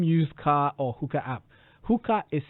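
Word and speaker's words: Huca: Hooker is spelled H-U-C-A-H-U-C-A.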